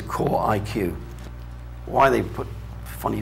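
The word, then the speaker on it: QorIQ: power pc cpus uh some people could pronounce that quarig but uh official name is core iq why they put funny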